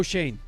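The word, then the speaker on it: Schoen: Joe Shane.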